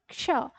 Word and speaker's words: क्ष: मिल रहा है और क्ष ये छ है हमारा यानी क्या है ये आधा क और श का उच्चारण है ठीक है तो आधा क क्ष ठीक है इस तरह छ नहीं है ये ध्यान रखना लिखना है आपको उच्चारण करते समय।